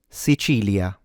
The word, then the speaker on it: Sicilia: The stress, of course, is on chi, so the middle syllable.